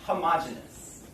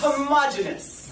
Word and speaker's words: homogeneous: ahead and talk about homogeneous okay all right everyone please repeat after me homogeneous homogenous oh there's two pronunciations some people say homogeneous and they will spell it with an extra e here so you will see